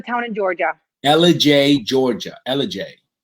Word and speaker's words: Ellijay: Ellijay. Like Elijah, or how do you spell it?